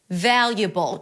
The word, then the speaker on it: valuable: It's an l sound, a y, and awah. Val. Valable. Bowl. Valuable. Just like with inevitable, we have the B sound, schwah, and dark L.